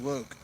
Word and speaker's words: Locke: Loke, like Tone I Loke. always call Locke.